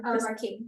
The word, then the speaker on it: Marquis: And Krystal Marquis, am I pronouncing that right? Marquis.